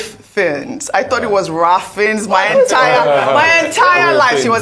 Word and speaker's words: Ralph Fiennes: You know, I actually only realized how to pronounce Ralph Fiennes. I thought it was Ralph Fiennes my entire life.